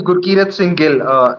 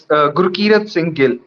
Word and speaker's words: Gurkirat Singh Gill: So it's Gurkirat Singh Gill. Gurkirat's my first name. Singh is my middle name. Gurkirat Singh Gill. Yes, Gurkirat Singh Gill.